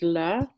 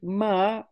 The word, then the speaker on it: lama: So the word, it's two syllables, and the first syllable is la, and the second syllable is ma. And la means supreme, above all, nothing higher. And ma means mother.